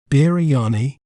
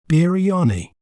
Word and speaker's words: biryani: We may pronounce it as biryani, biryani, b, gri, ya, ni, biryani.